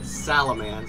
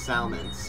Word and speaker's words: Salmance: By the way, guys, the person we've been looking at, his name is not Salamance, it's just Salmance, or something, Salmance. It's not spelled like Salamander. It's just S-A-L-M-E.